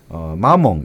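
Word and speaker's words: maman: 제가 발음이 좀 그런데 프랑스 사전 한번 들어보니까 마몽 이렇게 돼 있더라고. 마몽. 예. 근데 그게 엄마 이게 뭐냐면 이 마몽은 이 사람이 뭐 나이가 40을 먹든 50을 먹었든 자기 엄마가 살아있으면 그냥 마몽이라 부른다는 거예요.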